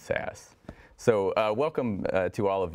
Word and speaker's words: SAS: sean berry from sas which i believe is pronounced sass so welcome to all